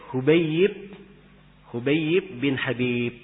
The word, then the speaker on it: Hubayib bin Habib: Hadis ini diriwayatkan oleh Hubayib bin Habib. Perhatikan ya, tulisannya sama. Kalau tidak diharokati sama. Tapi bacanya beda.